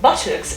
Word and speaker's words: buttocks: So I've just done it, guys, and Botox is transcribed with a O diphthong and this pot sound at the end, whilst buttocks is transcribed with a short O, right, and a schwa at the end.